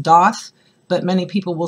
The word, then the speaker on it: daith: looking it up is that it is actually pronounced DAF but many people will say dey same with the conch it is pronounced conch